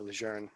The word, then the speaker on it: Lejeune: Yeah, Camp Geiger, right there by Camp Lejeune, I guess is the correct pronunciation. Yeah, Lejeune.